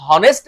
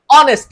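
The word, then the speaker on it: honest: অনেকে মুখস্ত করি যে এইচ এর উচ্চারণ হ এর মত না হয়ে যদি অ এর মত উচ্চারিত হয় তাহলে এ না বসে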